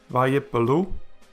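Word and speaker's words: וַיִּפְּלוּ: The first Yod gets a silent Shewa, and so does the first P. So then if we zip it back together, we see that it is pronounced as Vayipelu, which means they fell.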